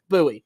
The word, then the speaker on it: Bowie: winning the series against the uh Bowie buoy however you pronounce that I'm sure people say it both ways buoy yeah that that that's exactly what I thought it was I knew I was